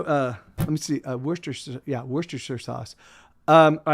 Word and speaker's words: Worcestershire: like because i i i was raised pronouncing it worcestershire sauce like kind of like wooster wooster in in massachusetts you know like but